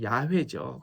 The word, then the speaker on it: 야훼: 여호와라는 단어를 사용하지 않습니다 여호와는 사실 한국식이고 원래 발음으로 야외죠 그런데 유대인들은이 야훼라는 단어